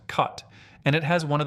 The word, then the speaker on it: khat: This is khat, pronounced kot, and it has one of the most fascinating legal stories of any plant in the world.